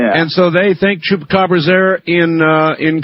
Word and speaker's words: Chupacabra: Chupacabra. It is my mission in life to teach people how to pronounce that.